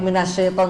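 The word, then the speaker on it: مِنَ الشَّيْطَانِ: as menyebar udaranya minasyai dan huruf ya jangan sampai berharakat minas tapi sukun yang murni minasyait sitir kita dari sampai minasyaitan dulu minasyaitan coba Min minasit tib pada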